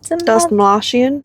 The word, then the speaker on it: Dastmalchian: David, I can't pronounce his last name. Dastmalchian.